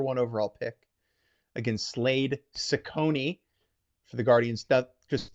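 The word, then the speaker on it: Cecconi: Okay, that first C is going to be an S. That second C is going to be a K. And that's going to help you pronounce Sakone correctly as we move forward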